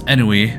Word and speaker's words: ennui: The air of ennui, I was mispronouncing this, was ennui, which means like listlessness, about her was so strong, I started to get nervous.